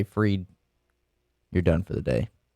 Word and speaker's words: Fried: seven might be time why is it pronounced free instead of fried i don't understand that